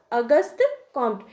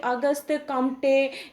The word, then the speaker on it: Auguste Comte: से मालूम होना चाहिए हम लोग हर जगह देखें होंगे की अगस्त कंटे या अगस्त या इस प्रकार से बहुत तरह के नाम का हम लोग उच्चारण करते हैं अपने सुविधा के अनुसार लेकिन अगर उनके सही प्रनंसीएशन की बात की जाए तो उनका नाम है अगस्त लेकिन हम लोग उसको